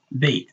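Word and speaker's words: بيت: If you write it like the word bait, like would you catch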